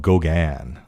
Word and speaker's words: GauGAN: an Nvidia Gan demo called Goan where they intentionally spell that with Gan at the end of Goan after the famous painter and it's using a